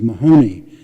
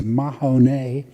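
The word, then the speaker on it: Mahanoy: The name of the town was Mahoney, and I thought it was an Irish name. But it turns out when we spoke to someone that we were mispronouncing it. It's Mahoney.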